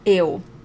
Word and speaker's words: eu: First is the word eu. So don't even look at the word right now, just listen to it. Eu. Okay, so not eu, not io, eu.